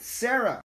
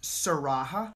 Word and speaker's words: Sarah: All right, Sarah. It's pronounced Saraha. Oh, so you pronounced the H.